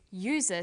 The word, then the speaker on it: user: umbrella but a user because user sounds like it begins with a y a and an are